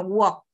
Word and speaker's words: walk: Recuerda lo que dijimos hace un ratico, como termina en L más otra consonante, esa L no suena. Tanto no es walk, sino walk.